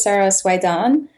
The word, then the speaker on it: Sara Soueidan: hide hi everyone so my name is Sarah suede on this is how it's pronounced most people don't don't